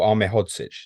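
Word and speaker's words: Ahmedhodžić: Ahmedhodzic, Um, is that the correct pronunciation? Anel Ahmedhodzic, is that the correct pronunciation?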